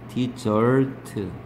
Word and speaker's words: dessert: 얘는 S가 두 개네. 발음은 디저트.